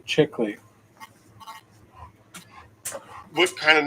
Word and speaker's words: Chickilly: Rider movie yeah that was a good movie pronounce my last name chickley what kind of name is butchered Italian before